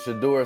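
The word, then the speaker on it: Shedeur: Shador Sanders.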